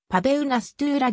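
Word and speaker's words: Paweł Nastula: 教えるクラスがあるちなみに名前のポーランド語での発音に忠実な日本語表記はパベルなすトゥーラであり auer 夏らは英語冬ぬリングネームである一時期パウェル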